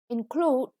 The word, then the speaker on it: include: Include, the stress is on the second syllable, and it means if one thing includes another, it has the second thing as one of its parts.